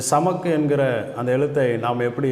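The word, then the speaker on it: סמך: அடுத்த எழுத்து அடுத்து 15வது எழுத்து 15வது எழுத்தை சமக் அப்படின்னு உச்சரிக்கிறோம். இந்த சமக் என்கிற அந்த எழுத்தை நாம்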